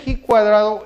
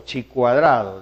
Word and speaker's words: chi cuadrado: La distribución de G cuadrado es otra distribución importante. G cuadrado o chi cuadrado, depende cómo se quiera pronunciar.